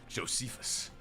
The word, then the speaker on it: Josephus: Josephus. You trying to say my name like Joseph, but Confucious. Josephus.